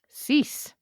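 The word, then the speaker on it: six: Do you know what the French word for 6 is? Cease. It's 6. Spelled the same.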